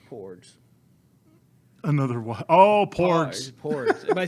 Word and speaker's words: Porgs: Porgs.